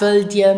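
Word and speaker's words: wëllt dir: Now it is very common in spoken Luxembourgish not to pronounce the final T of a verb when it is followed by dir.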